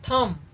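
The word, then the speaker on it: thumb: थंब बस बोलते हैं इसका स्पेलिंग क्या होता है टी हा यू एम बी होता है जो की बी हमारा क्या होता है साइलेंट होता है जैसे हम नाइफ बोलते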